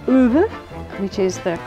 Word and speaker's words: Ove: Another one for getting away from it all, if you've read A Man Called Ove, which is the correct pronunciation, Frederick Backman's Anxious People, absolute hoot.